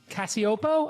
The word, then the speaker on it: Cacioppo: I thought I would bring Christina Cacioppo. I pronounced it correct.